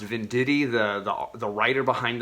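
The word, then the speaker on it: Venditti: um the end of a really amazing run i think it's pronounced vin diddy the the the writer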